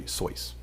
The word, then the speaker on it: Seuss: It's actually Seuss. But he never corrected people because he got sick of correcting them. So it's actually Seuss is how you're supposed to pronounce it.